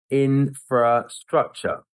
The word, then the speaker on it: infrastructure: But what I hear a lot of people saying in business, they drop that internal R sound after the first syllable and they just say infrastructure. And rather than infra.